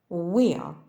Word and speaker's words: where: на початку слова сьогодні у буквосполученні WH на початку слова вимовляється тільки w Як без H смуга What що скільки We пшениця колесо When коли Where де куди котрий який